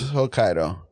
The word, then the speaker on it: Hokkaido: very close to H is it Hokkaido or hokido how do you say uh I'm not sure it's Hokkaido I'm pretty sure took like a semester